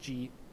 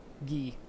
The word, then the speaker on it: gi: I think like G Robes. Gi. Sorry, that's how it's pronounced.